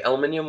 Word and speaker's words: aluminium: If you're going to spell it differently, Aluminium. then you got to say it different.